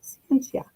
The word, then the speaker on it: scientia: Well, the word science comes from the Latin word scientia, pronounced scientia.